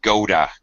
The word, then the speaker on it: go to: words doesn't matter uh American accent we we pronounce this as a d so go to it by Americans is frequently reduced to Goda like Yoda from start track except with a